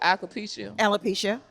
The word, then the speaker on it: alopecia: However, with my ambassadors, I know with Tracy about to do the ball system, like embracing the what's the pronunciation? Alopecia.